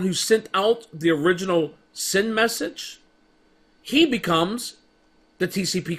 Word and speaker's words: SYN: what is called a sing message s YN I might have said it wrong but sin message sorry I just said